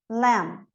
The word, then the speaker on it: lamb: MB, não pronuncio o B, então. Com, climb, lamb.